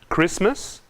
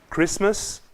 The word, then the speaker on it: Christmas: também david please leshan christmas caso nesses palavras não pronunciamos a letra t leshan christmas caso reste de ta